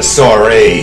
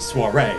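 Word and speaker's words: soirée: What the hell is a sorry? Oh, boss. God. Sorry to interrupt. Actually pronounced soiree. You know, it's a French word.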